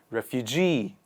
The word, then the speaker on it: refugee: who move are called refugee refugee the stress comes on the last part of the word refugee the next one